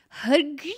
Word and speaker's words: HKG: No, you have to pronounce it out. Hug. It's just a bunch of consonants together, you guys.